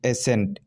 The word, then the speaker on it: ascent: जैसे ASCENT, एसेंट। ठीक है, यहाँ सी साइलेंट है।